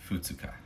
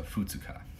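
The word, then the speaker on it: 二日: of the word, is second day, which is futsuka. And that's all lowercase, which means that it's all the Chinese borrowed words for it. So futsuka.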